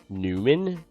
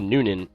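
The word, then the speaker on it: Newnan: Newman. No, it's spelled Nunan. Not New Man.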